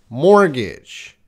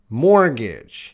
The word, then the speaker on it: mortgage: Mortgage. Mortgage. You guys should be repeating. It's today is pronunciation.